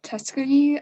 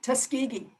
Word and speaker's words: Tuskegee: that experiment known as the tuscany i'm probably saying it wrong but you're saying it right yeah tuskegee so what they did